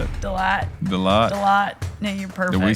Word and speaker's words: Delatte: Delatte.